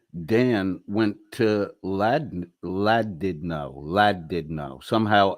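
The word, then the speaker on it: Llandudno: happen this afternoon Dan went to Lad laddo lad did no somehow l l n d u d n o is pronounced in English as lad did no so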